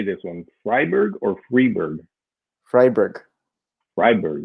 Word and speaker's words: Freiburg: do you say this one Ryberg or freiburg freiburg freiburg right okay yep I thought and then